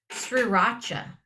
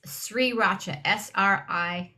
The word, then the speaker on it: Sriracha: Read how the word is spelled, and it's or another one. Sriracha.